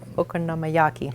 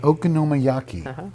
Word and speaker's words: Okonomiyaki: They are pronounced Okonomiyaki. Okonomiyaki.